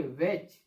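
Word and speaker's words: watch: देखा आप लोगों ने, यानी जब टी के बाद ईएन और सीएच आता है तब टी का उच्चारण हम नहीं करते हैं। टी साइलेंट लेटर होता है।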